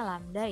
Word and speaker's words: lambda: Dalam kurung itu dibacanya lambda ya.